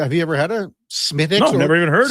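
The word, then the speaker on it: Smithwick's: It's Smithix. The W is silent, okay? IMAX says, hey, so the dude from Sherbrooke was in with Gregor. It's pronounced Smittix. So one guy says Smithix, one guy says Smittix.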